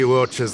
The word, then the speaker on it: Luocha: That's right, Luocha. Oh, I said it wrong. Luocha.